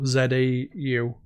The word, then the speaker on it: Zau: And I think it's pronounced Zhao, Zau.